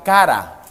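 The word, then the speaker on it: χαρά: La palabra griega usada por gozo es la palabra chara. Se pronuncia cara, pero no de su rostro ni de la cantidad de dinero, ¿no?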